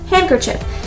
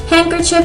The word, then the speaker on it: handkerchief: i mean previously bullets you can break it up into smaller words so we have hand and chief and in the middle is the cur so hand ker chip together handkerchief handkerchief is basically what usually